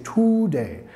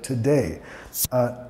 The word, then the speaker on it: today: Today, primera sílaba no acentuada. Mucha gente dice today, mas it's today.